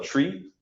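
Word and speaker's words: trie: neat, is called a tree, T-R-I-E, but it's pronounced the same way as a tree, T-R-E-E.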